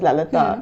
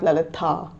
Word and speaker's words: Lalitha: So that's why my name is spelled like Lalitha, but it's actually pronounced as Lalitha. It's not Lalitha. So when I tell someone that it's Lalitha, like because the H is silent basically, and I understand when